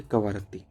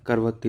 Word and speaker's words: कवरत्ती: लक्षद्वीप की राजधानी वो है कवारत्ती, या करवत्ती लिखा है, कवारत्ती बोलते हैं। सही प्रोनाउंसिएशन ध्यान रखें।